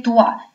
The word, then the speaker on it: toits: «Sur les toits». Видите, «ои» у нас с вами произносится как «уа».